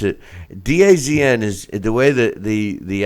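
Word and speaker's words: DAZN: yeah they for some reason they pronounce it Daz n is the way the the app is pronounces the zone they had about three different ways to say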